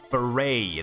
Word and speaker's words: foray: Foray, that's how you're supposed to pronounce it, foray.